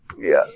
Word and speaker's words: 月: 月, 月 is easier, 因为月, not 月, focus more on the front of your mouth, 月, 月, 月, 月, 月.